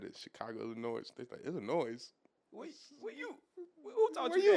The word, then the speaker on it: Illinois: look at it yeah s is silent is silent in the M wait